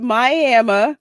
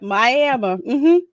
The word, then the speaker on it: Miami: great-aunt's not crazy yes she pronounced it miama i am that's exactly what you do yep miami i was like no it's miami especially the folks that